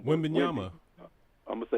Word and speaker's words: Wembanyama: That's why I'm glad Wembanyama, pardon me, I got his name wrong. Wembanyama.